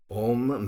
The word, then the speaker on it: Om: If you listen to recordings, which again you can find on the net, you'll notice that the Om is often pronounced almost like Omi.